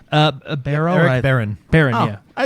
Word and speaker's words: Barone: So the creator and developer Baron, is that how you pronounce his last name? Baron.